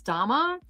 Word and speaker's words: Dharma: But as I was saying, the reason I asked if the H was silent is because my daughter's name is Dharma, and it's DH, and the H is silent. And I have a daughter